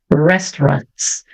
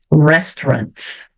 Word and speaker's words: restaurants: eu vou pronunciar assim eu vou enrolar minha língua então vai ficar restaurants restaurants OK agora veja geralmente